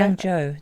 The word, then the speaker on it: Yangzhou: Yes, and I did look up kind of the Yangzhou area. Yangzhou, that's it. Yeah, I think that's how you say it. I'm sorry if that's not correct. No, you're right, that's what they say.